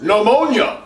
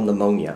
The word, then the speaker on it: pneumonia: I know how to spell pneumonia. I'm a doctor. Hey, Penelope, did you get this one right? Yes, Dad. Wait, Jesus, Penelope, what is with you and all these P's? The P is silent.